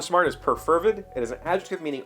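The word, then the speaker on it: perfervid: heard it uh and according to this pronunciation key the emphasis is on fur so preferred interesting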